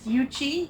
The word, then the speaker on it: UCHI: it Yi it'si yes for the record it is yuchi yuchi stands for Unite Here Chicago Hospitality Institute but phonetically we say Yugi say it with me